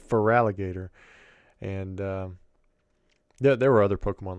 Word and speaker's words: Feraligatr: We would say, instead of Feraligatr, we'd say Frigigator. And there was no reason for that. There's definitely F-E-R, but we'd say Frigigator instead of Feraligatr.